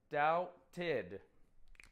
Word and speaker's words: doubted: Right. Doubted. It gets 2 syllables.